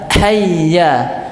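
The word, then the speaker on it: حَيَّ: baru antum hay gak itu bacaan yang sa salah pengucapan yang salah yang benar hayya bukan berarti nanti antum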